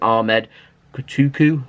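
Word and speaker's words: Ahmed Kutucu: A report in Turkey were claiming that Manchester City were chasing Schalke young forward Ahmed Kotuku, that's how you say his name, 19 years old, but apparently Schalke have said he isn't for sale and he's staying put.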